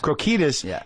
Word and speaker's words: Krokidas: Krokidas. Krokidas, wanted it to have the sort of intensity and the rawness of something really happening.